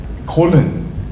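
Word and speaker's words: Köln: I mean, but colon. It's just. Did you not see that? Because it's spelled KOLN.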